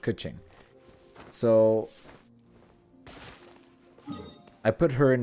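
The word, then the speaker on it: Keqing: that's how we say her name all right kuching so i put her in my party and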